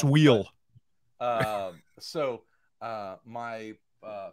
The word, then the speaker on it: Soule: thought it was charles soleil because he spells his name s-o-u-l-e and he's and he laughed he's like ah no it's it's soul it's sweel um so uh my